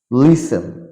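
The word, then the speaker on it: listen: letter will be silent T letter will be silent যেমন লিসেন মানে শোনা depot এখানে কিন্তু সাইলেন্ট থাকবে ডিপো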